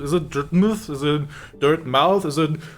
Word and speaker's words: Dirtmouth: Like, why do you spell it mouth and then say muth?